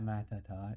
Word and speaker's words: Matuhtuh: Well, anyways, it's at Matata. It's spelled Matuhtuh.